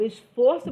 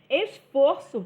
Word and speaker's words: esforço: hoje foi imenso agora esforço também pode ser verbo né eh e aí ele vai sofrer uma modificação no seu som também porque o esforço é fechado e eu me esforço é aberto tá tem um som aberto